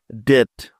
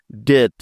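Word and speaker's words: debt: নেয়া যাক নিয়মটি হল টি এর আগে বি বর্ণটি থাকলে ওই বি এর কোন উচ্চারণ হয় না তাহলে চলো এই নিয়মের কিছু উদাহরণ দেখে নেয়া যাক যেমন ডি ই বি টি ডেট ডেট এবার দেখো এই শব্দটাকে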